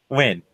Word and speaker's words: Nguyen: easy to pronounce, but it's really hard because of spelling. Oh. Win. I know it. I know what you're talking about. It's like it's spelled like Hyung. Nguyen is how it's spelled.